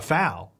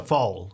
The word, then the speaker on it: foal: Now some might call a foal a fowl. But that would be wrong. It's a foal, just so you know. That's how you pronounce it.